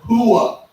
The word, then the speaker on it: hooah: Army is the word hooah. Now, I'll say that differently here in a second. Hooah is spelled H-O-O-A-H, but most of the time you would hear a person say, hooah!